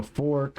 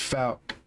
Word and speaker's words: Fouke: A lot of people don't know how to say it, Fork or whatever, but it's Fouke.